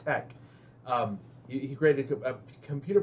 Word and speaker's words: TeX: a computer program called Tech t-e-x it's pronounced Tech um he created a